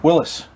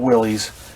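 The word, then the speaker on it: Willys: away from old man willis and yeah i am saying it right look it up on wikipedia that's how his name is pronounced not willie's i had to get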